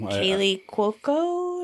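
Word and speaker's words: Kaley Cuoco: And Kaylee Cuoco.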